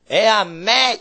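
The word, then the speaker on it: ἐὰν μή: 에아메 이렇게 돼 있어요. 헬라어 발음으로.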